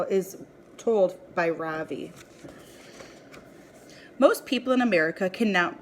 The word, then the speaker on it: Ravi: first name is Ravi it's pronounced Ravi with a soft raw in a strong V and sand skirt it means the Sun in America people call me Ravi with the stress on